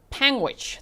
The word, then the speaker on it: Panguitch: I live in Utah, in the town you weren't sure about is pronounced Panguitch. Thank you so much. Panguitch.